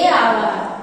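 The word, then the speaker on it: hour: দি ব্যবহার রয়েছে দি সান এন আওয়ার এ আওয়ার এন আওয়ার হবে আওয়ারের উচ্চারণ কি ভাইলের মতো তাই এখানে এ ব্যবহার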